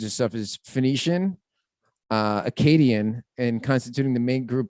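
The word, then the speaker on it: Akkadian: now look at that academians uh Acadian is how you pronounce that Acadian Phoenix and Arabs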